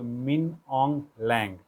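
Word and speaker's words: Min Aung Hlaing: MIN मिन, AUNG ऑन्ग और HLAING, एच को साइलेंट कर दीजिए तो मिन ऑन्ग लैंग।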